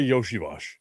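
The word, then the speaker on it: Iosivas: I saw an article yesterday talking about Bengals wide receiver Andre Yoshiash. And yes, that's how you say it, even though it's not spelled that way.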